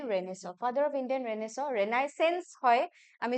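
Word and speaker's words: Renaissance: father of Indian रेनेसो father of Indian रेनेसो रेनासेंस होय हमें जो बहुत एने रेनासेंस होय किंतु रेनासेंस न होय हमें प्रोनाउंसिएशन करो प्रोनाउंसिएशन की होरे इट इज़ रेनेसो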